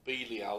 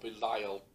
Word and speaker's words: Belial: They were referred to very often as sons of Belial or Belial, depending on your pronunciation.